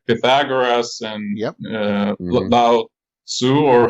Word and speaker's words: Lao Tzu: So that made me immediately think about, things like Pythagoras and Lao Tzu, or how do you call it in English? Lao Tzu. Well, actually, that's how you pronounce it.